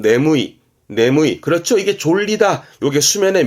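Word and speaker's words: 眠い: 발음은 네무이.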